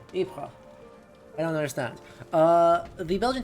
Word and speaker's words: Ypres: Ypres, Italian ruins. Dubbed Vipers by British troops due to its difficult pronunciation. Ypres.